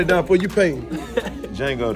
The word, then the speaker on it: Django: Django the D is silent.